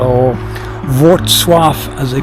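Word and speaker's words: Wrocław: So I've just left Roclaw or Wswaf as they pronounce it.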